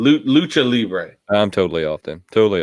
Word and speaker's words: Libre: it wrong I can't say it right it's Libre Libre lib nacho nacho Nacho Libre nacho that